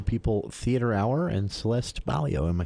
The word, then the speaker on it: Baillio: In the studio with us today, Charlie Schill for the For the People Theater Hour and Celeste Baillio.